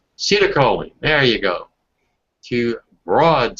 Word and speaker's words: acetylcholine: How do you pronounce that? Do you know about that? You ever heard this word? Dale, A-C-E-T-Y-L-C-H-O-L-N-I-E. Acetylcholine? Acetylcholine.